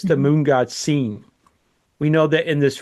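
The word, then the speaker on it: Sin: Now it's spelled s i n but it's pronounced seen like I have seen something. It's the moon god seen.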